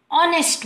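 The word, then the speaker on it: honest: like an ऑनेस्ट मैन जहां हम नेस्ट नहीं हम ऑनेस्ट बोलते हैं एज़ एन ओ का साउंड क्रिएट करते हैं because the एच is silent so an hour not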